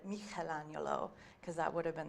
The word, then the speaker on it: Michelangelo: Just because he's Michelangelo.